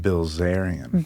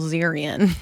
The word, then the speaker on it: Bilzerian: Bilzerian. Bilzerian. Is that Is that the real correct way? Oh, yeah. He was my idol. I thought it was Bzerian. No, I mean Yeah. No. Bilzerian.